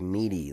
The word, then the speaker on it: MIDI: mead or meat like midi like the yeah yeah yeah no you just pronounced it differently than me oh how do you say it i said i say midi like like in the middle yeah have you ever